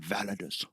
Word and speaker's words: Validus: i love that name validus validus is how you pronounce it without a deuce like Maximus I think you have